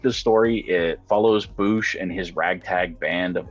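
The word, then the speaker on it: Boushh: So I looked it up, and apparently it is pronounced Boosh.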